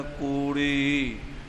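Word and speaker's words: ਕੂੜੀ: जी ने पढ़ है कूड़ी अ ड़ री लगी है ते न भी ला के कूड़ी ता उच्चारण करना है कई वारी असी डड़े द बहारी छड जाे काली दे नाल उथे फिर अशुद्धि आंदी है य ख्याल रखना है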